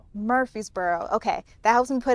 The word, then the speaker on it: Murfreesboro: Wood today, it's in Murfreesboro, Tennessee. Just south of Nashville. Murfreesboro, okay.